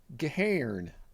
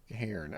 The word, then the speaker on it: Gahern: Keri what? Gehirn. It's German.